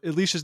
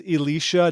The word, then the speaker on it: Eleesha: Now, Alicia, and by the way, everyone, Alicia's name is Eleesha, not Alicia. Oh, Eleesha. you remember? Wow. Well, I know how her name is spelled. It's Eleesha. Not to be confused with Elisha either.